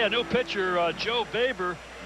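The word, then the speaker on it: Boever: okay a new picture uh Joe baber it's spelled b-o-e-b-e-r baber and he's a national Leaguer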